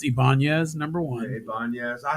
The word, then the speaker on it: Ibanez: have an acoustic eyebrows but like that's it's pronounced Ibanez number one hey banyas I have one from